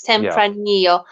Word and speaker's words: tempranillo: what you call it tempranillo it's double l because it's in spanish double l you you you pronounce certain way right double l okay it's tempranillo i probably not don't